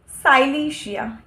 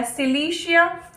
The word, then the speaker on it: Silicea: Starting from the medicine साइलीशिया या सिलीशिया, कुछ भी प्रोनाउंस कर सकते हैं, साइलीशिया भी सिलीशिया भी।